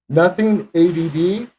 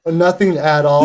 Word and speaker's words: Nothing ADD: Effect, Fairy Bones, Jerk, Nothing ADD. Oh, Nothing at All. Nothing at all. Yeah. But it's spelled ADD.